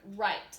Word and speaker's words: write: This is the word right, like I write with my left hand. We do not say the W. We don't go right, we just say right. So this is a silent letter.